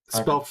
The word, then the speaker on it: Arvid: It's Arvid. spelled phonetically.